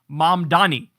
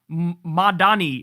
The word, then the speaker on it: Mamdani: Say it with me now. Zohran Mamdani. It's always like Mamdani or Madani, or what was it that Cuomo used to say?